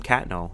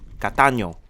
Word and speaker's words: Catano: I don't know why they call him Catno. You people can't pronounce his name, right? Catano, all right? Embrace his Spanish roots.